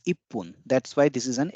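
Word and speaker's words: 一分: that poon the exceptions because this is not Ichibon the numeral is Ichi the counter is spoon but it is not Ichibon it is ippun that's why this is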